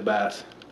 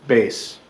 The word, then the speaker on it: bass: I play the bass. You mean bass? Well, it's spelled B-A-S-S, so it's bass, right? Bass. Oh. I play bass.